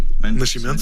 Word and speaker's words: Nascimento: Nascimento, sim. Nascimento. I have trouble with the pronunciation.